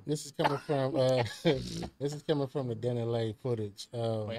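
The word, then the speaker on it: DaniLeigh: this is coming from the Danny Lay footage. Wait, how you say her name? Danny Lay.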